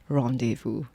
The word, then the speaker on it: rendezvous: much or like rendezvous some people go like rendezvous and then after a while you forget that the real way to pronounce it is rendezvous i had a multi-hyphenate